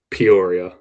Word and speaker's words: Peoria: Um, and it is pronounced Peoria, right?